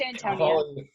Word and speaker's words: Antonia: Antonia, let me know which way is the right way to pronounce that. It's Antonia.